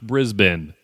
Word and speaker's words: Brisbane: explain my bad guys it's pronounced Brisbane more messages still wrong it's Brisbane say it like there are no vowels in it Brisbane I finally